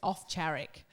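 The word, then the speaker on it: Owczarek: It's off charic. So it's the W is a V and then CZ CZ is a CH.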